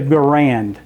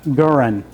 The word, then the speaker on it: Garand: So we always call it the Garand, but his name pronounced Guran. More emphasis on the first syllable instead of the second syllable.